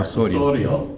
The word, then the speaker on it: Osorio: Osorio, thank you. Why don't you go ahead? Just roll your R's.